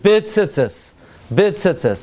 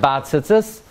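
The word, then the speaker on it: בציצית: together we learned that the proper way to say the bracha on tzitzis, Asher Kedushanam says v'tzivana l'satev, bit tzitzis, not bat tzitzis. Bat tzitzis is for tcheles.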